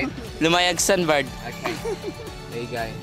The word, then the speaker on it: Lumayag: Lumayag Sandbar.